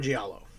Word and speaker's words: giallo: So Giallo, obviously, is an Italian film genre.